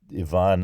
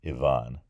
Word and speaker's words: Ivan: Oh, and also, if I'm not pronouncing Ivan Andreevich Krylov in the appropriate way, let me know as well. I noticed that it was Ivan. That's in English we say things like Ivan, like Ivan the Terrible.